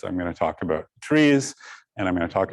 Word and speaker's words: trie: going to talk about trees and i'm going to talk about these things um so i'll call this tri but the true pronunciation is tree uh it's it's part of the word retrieval historically all right so what